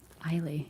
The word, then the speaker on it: Islay: Islay seems to be the standard sound.